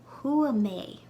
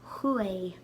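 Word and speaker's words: chuaigh: And similarly to the previous word nyahi, you'll only pronounce hua like hua before personal pronouns. So huame. But before regular nouns or personal names, you'll pronounce it hue, hue.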